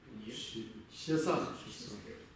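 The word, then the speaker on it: ཞེ་ས: Как это читается? Щеса.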